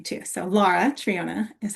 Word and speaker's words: Lara Triona: Um, just a slight change in how you pronounce my first name. You got my last name great. It's Lara Triona, but it's okay because my mom sometimes will use Laura, so it's a unique name too.